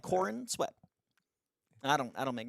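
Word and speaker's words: Corenswet: what is that chordsman is that really how you pronounce it yeah like corn sweat I don't I don't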